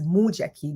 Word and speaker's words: Mujiaki: my last name is Mujiaki. The U is pronounced you.